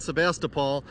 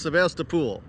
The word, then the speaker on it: Sebastopol: Well, we folks here pretty much call it Sebastopol, but there is a country element that maintains it's pronounced Sebastopol. Sebastopol.